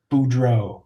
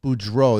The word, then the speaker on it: Beaudreault: never even tried last names how do you pronounce it Boudreaux Boudreaux there you go so thank you so much